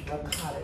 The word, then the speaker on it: ricotta: So those of you that's listening, that's my pronunciation, ricotta cheese.